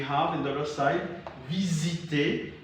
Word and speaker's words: visiter: For instance, we have in the other side, visiter. So S here is pronounced as Z.